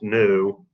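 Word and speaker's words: ν: the way point out the variable we use for frequency is spelled v but this is Greek so it's Sounds new there are two possible pronunciations of new there it's important not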